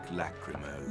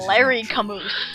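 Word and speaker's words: Lachrymose: cliff the trout over Lake lacrimo that's how you pronounce that I've been pronouncing that wrong for my entire life I've been like saying Larry Camus just about everything you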